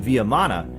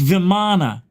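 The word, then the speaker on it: vimana: fly machines were even viam mana and somewhere on this planet today there are remnants of these objects still it's not viam man it's viman right it's not viam because it's Italian hey yo viam over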